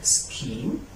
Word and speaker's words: scheme: But we have some words center H I cannot pronounce it, such as school, school, school, or scheme, scheme, scheme.